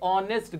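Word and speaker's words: honest: Anjali is ए ऑनेस्ट girl. अब यहां पे अंजलि इज ए ऑनेस्ट। यहां पे एच क्या होता है? साइलेंट होता है। आवाज किसकी आई? वोवेल के साउंड की।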